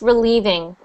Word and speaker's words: relieving: So that's pronounced relieving. With a V.